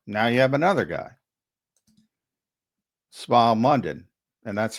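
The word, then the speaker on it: Smael: Um or now you have another guy, Smile Mundon, and that's how it's pronounced, by the way, Smile.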